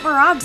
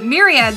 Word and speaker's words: Myriad: the anthros, check out Murad's song. Yeah, Murad's song's a good also. I'm sorry, Myriad's song. Myriad, you got me saying it wrong.